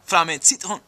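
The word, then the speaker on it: Flammen & Citronen: Flamme Citron. Flamme Citron. Don't say the R and don't say the N, you know, as many syllables as you can gobble up.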